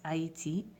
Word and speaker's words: Haïti: But if you add un troisième, AI all of a sudden changes to AI, as in this case, Haïti, which is how you say Haiti in French, because when you add the troisième to the second vowel, you've added another syllable.